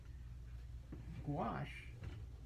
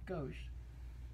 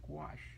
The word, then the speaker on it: gouache: my discoveries and the gouache not gauche gouache not spelled g-w-a-s-h and not squash but it's rhymes with squash but it's actually spelled